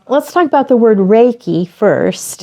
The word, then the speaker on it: Reiki: a zillion different pronunciations easy way to remember it is think about a ray of sunshine because it's it's a